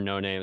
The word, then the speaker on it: No Name: if you ask him, it's actually like it's actually pronounced Noname. But people just say no name.